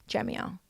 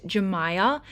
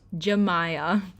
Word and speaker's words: Jemiah: Atis's new ex-girlfriend, Jamia. Hi guys, it's future Mikeala here. I just want to correct, her name is pronounced Jemiah. I've been saying it wrong this entire time and I just really want to apologize.